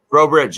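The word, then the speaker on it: Breaux Bridge: How do you pronounce that place where you went to lunch? The city, Bro city. Bridge, Bro Bridge, yeah.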